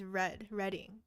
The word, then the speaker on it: Reading: It rhymes with bread. So it's Reading.